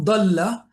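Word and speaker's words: ضل: It differentiates similar looking words because once you learn the makharij, you know dalla means he got lost. Zalla means he slipped. Dhalla means he stayed in certain position. And dhalla, a certain position or status or whatever, dhalla is to, be humiliated.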